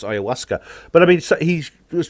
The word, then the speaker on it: ayahuasca: from the amazon indians it's actually pronounced simply ayahuasca it's perfectly easy to pronounce it looks strange because of